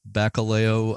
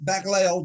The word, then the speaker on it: Bacalao: Moving ahead here, your next station was Bacalao Island. Am I pronouncing that right? Yes, Bacalao. More or less, which I think comes from Portuguese for cod, It's right?